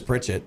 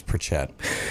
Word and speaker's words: Pritchett: know it every set everybody says Bridgette that's the area it's pronounced with the most people but for some reason I don't know how my family managed to gain this weird accent on it but it's Pritchett so 25 plus years